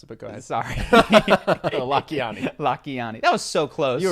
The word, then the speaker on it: Lakhiani: an interview yesterday with Mind Valley guy Vishen Lakhiani. Yeah, that's not how you pronounce it, but go ahead. Sorry. Lakhiani.